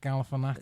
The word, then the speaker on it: Galifianakis: Is it Zach Galifianakis?